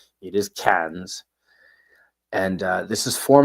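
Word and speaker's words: Cairns: There is an R, but they don't pronounce it. It's not Karen. It is KS.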